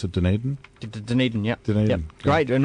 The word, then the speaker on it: Dunedin: And from there it goes to Christchurch and I don't even know how to pronounce it, Dunedin? Dunedin, yeah.